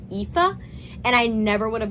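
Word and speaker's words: Aoife: o i f e which I would have pronounced like aopi which I knew was wrong when I first read it but apparently it's actually pronounced like epha and I never would have known that but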